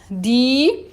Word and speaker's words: die: Quando eu encontro IE, tá? IE, eu vou dizer I, um I longo. Die, sie.